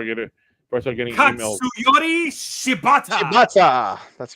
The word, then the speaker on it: Shibata: his name before I get it first getting shibata shata that's correct there you go who by